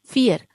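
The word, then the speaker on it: vier: ठीक है, फियर। जैसा हमने अल्फाबेट्स में देखा था कि जो वी होता है उसको बोलते हैं जर्मन अल्फाबेट में फाउ, तो इसका प्रोनाउंसिएशन फ से होगा।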